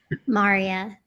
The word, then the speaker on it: Marya: Maria.